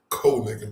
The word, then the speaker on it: Konig: Cole Neken, that's how you say his name.